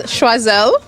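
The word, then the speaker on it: Choiselle: So this is Schwazelle making so many amazing local products.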